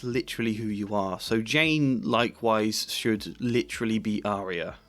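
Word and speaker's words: Jeyne: Her name is Jane. It rhymes with pain.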